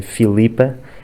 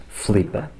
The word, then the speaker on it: Filipa: Com a palavra Filipa também vemos que no norte se pronunciam mais as vogais. Tanto a Bárbara como o Miguel dizem Filipa, enquanto que no resto do país temos mais tendência a dizer Filipa, cortando o i átono.